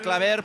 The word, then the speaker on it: Claver: pronunciación de su apellido lo he corregido con la r final que se note la r Ah claro claver tú